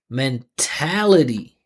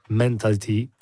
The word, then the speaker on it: mentality: So these words that finish with ITY, they all have the same rhythm pattern. Flexibility, scalability, mentality. So you see, I'm emphasizing the syllable before the ITY.